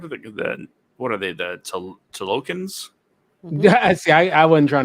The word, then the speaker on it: Talokan: The Tolokans? Hmm. See, I wasn't trying to pronounce it. Talokan. Yes, you got it right. Oh, is that Talokan.